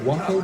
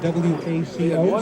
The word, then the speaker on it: WACO: The Weaver Aircraft Company was shortened to WACO, W-A-C-O, so we pronounce it like Waco rather than the city of Texas, Waco.